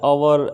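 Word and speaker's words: hour: यहाँ पर एच जो है फ्रेंड्स वो साइलेंट है, मतलब इसका साउंड है ना एच से नहीं निकलता, साउंड जो है वो अ से निकलता है। अवर, एयर, ऑनेस्ट, ऑनरेबल, ये सब।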